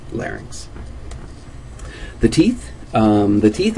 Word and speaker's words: larynx: faing and the same thing with larynx it's not a three- syllable word just two syllables larynx the teeth um the